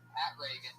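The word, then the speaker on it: Pat Regan: Not like Ronald Reagan. It's announced like Ronald Reagan. Pat Reagan, but there's no A in that.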